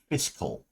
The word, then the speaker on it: fiscal: there's other types of physical conservatism and I am trying to say fiscal um pardon me if I keep throwing an extra syllable in there uh they're the sustainable